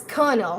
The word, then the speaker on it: colonel: word you know how kernel is pronoun is spelled as c-o-l-o-n-e-l but it's pronounced as kernel how many of you